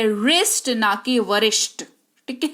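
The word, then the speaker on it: wrist: बाद आर ए जाए तो डब्लू का उच्चारण नहीं किया करते जैसे की blue are आई एस टी डब्लू के तुरंत बाद है आर तो इसको पढ़ेंगे रिस्ट नेकी वरिष्ठ ठीक है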